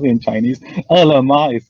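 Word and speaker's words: Ele.me: We also have this, there's no choice I to pronounce it in Chinese. Elema is called ELEME, right?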